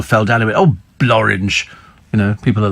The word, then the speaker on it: Blorenge: And then Blorenge, a valley in Wales, rhymes with orange.